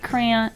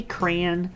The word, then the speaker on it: crayon: apparently these are art crayon I'm trying to say it properly I say crayon but I know crayon and then underneath that